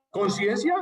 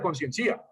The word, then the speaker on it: conciencia: Conciencia no lleva tilde porque si no sería conciencía.